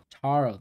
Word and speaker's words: Taro: Taro, that's how you pronounce it.